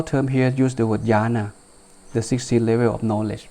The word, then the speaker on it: jhana: They pronounce similar, but they're not the same, okay? Jhana spelled like this, J-H-A-N-A, but jhana, J-N-A-N-A. Okay?